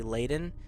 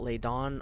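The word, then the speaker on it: Ladon: the leaden dragon and it's spelled l a d o n and when I looked up the phonetic way of spelling speaking it it's actually leaden so it's not Leon or Lain it's it's how they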